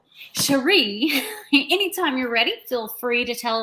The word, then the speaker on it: Cherie: It's Cherie.